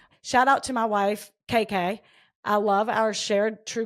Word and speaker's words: KK: That's KK is spelled CAICAI. Okay. Okay. KK's Cajun Cooking. IG is hey_chef KK. I feel like it's Kai, maybe. No, she says does it for you phonetically.